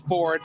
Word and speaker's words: Ford: Yes, Ford, like it's spelled differently, but it's pronounced Ford.